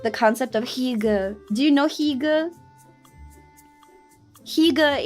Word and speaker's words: hygge: You would like the concept of hygge.